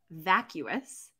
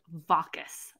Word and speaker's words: vacuous: which audiobook it was I thought the word vacuous was vaucous like rhymes with raucous like I thought that